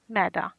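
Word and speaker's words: knee: लेख पढ़े लिखे पढ़े नी घुटना इसमें के साइलेंट नी घुटना शोल्डर कथा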